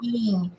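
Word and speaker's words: sim: Sing. Oh, it is C. Okay. Okay. Our M's and N's? There's a Yes. or N. We just Oh, sing. So it's sing. scene. It's Wow. like That's almost sing without the G.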